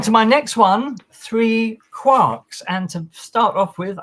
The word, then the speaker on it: quark: And for those people who insist on pronouncing it quark, you're wrong because it rhymes with Mark. So therefore, it has to be quark.